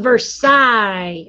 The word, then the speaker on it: Versailles: you don't even have to say treaty of versailles is how you say that french words have